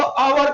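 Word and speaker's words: hour: Silent बेटा इसको अवर पढ़ेंगे।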